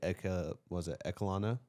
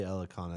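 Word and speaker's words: Elekana: The last fight that he was in was Billy Ekalana? Do not even look at me. Elikana? Billy Elikana, that's how you say it.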